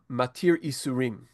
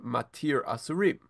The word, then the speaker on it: Matir Asurim: bracha, Baruch Atah Hashem Matir Isurim, right? So the typical pronunciation that we have is, we say it in the morning, every morning after we wake up, Baruch Atah Hashem Matir Asurim.